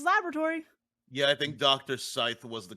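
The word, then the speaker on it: Sithe: Scythe was the correct pronunciation.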